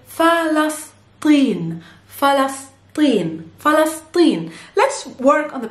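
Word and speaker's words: فلسطين: and it's palestine palestine in arabic we say fallacies let's work on the pronunciation first so it's falas and then we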